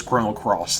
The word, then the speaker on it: Chrono Cross: Like that's how it's pronounced, or yeah, or Chrono X is Chrono Cross, things like that.